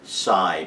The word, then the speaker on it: psi: And probably the trickiest word is, you'll hear the word sighing, but that's actually based on the word psi, P-S-I, as in paranormal events.